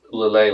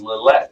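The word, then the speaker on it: Lillet: I talked about Llay last week and I was convinced it was Llette.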